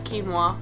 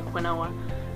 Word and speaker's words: quinoa: I'm gonna say quinella it's quinoa I call Quinn Owen cuz that's how it's spelled but anyway um quinoa